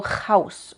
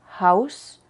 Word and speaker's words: Haus: no nada más aire House Pero cuidado que no salga algo como jaus o junt no lo cieres tanto jaus junt con que suene algo es suficiente haus hun Y cuando la sílaba